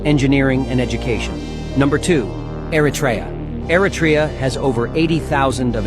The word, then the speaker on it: Eritrea: engineering and education number twoa has over Eratraa. Thank you for the proper pronunciation. Eratraa.